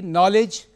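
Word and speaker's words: knowledge: nobility that is श्रेष्ठता, दूसरी नॉलेज means ज्ञान, यहाँ पर के साइलेंट है, यू अभी आप में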